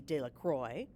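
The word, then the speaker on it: Delacroix: and Harry Jones and Dicky de lroy the villagers pronounced it Delroy eventually made a great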